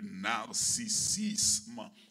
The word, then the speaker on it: narcissisme: C'est ça, le narcissisme spirituel. N-A-R-C-I-2-S-I-S-M-E, comme cela se prononce.